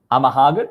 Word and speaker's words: Amahagan: So it's just Nagahama backwards. which is apparently Amahagan.